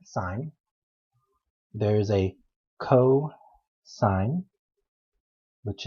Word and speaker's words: sin: or write it down we typically just say s-i-n but we pronounce that sign there's a co sign